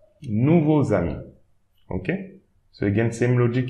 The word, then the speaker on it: nouveaux amis: So the Z, the imaginary letter should be at the beginning of the second word. Not at the end. We should not pronounce it at the end of the first word, but at the beginning of the second word. So here, nouveau as usual. Now, at the beginning of the next word, you pronounce that side imaginary letter, zami. Nouveau zami.